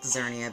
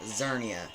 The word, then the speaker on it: Xerneas: You might think it's pronounced Xerneas because of the X in front of Xerneas, but it's actually pronounced Xerneas.